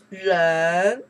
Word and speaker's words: 人: Ren. Person. Wow. Ren. How many characters you learned out here? Kou. Zhong. Here. Ren.